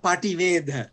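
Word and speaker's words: paṭivedha: Oh, Pativedha. Yeah. Yeah. Okay, so there's an I in there, the letter I, E. Pativedha.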